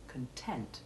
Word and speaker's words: content: to the rule for although the main stress is on the first syllable in the noun in contrast to the adjective content in which the first syllable is unstressed there is also significant stress on the noun's second syllable content now you say